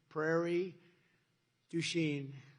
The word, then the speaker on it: Prairie du Chien: So we're here today in Prairie du Chien. Is that a good? Yeah. Good pronunciation.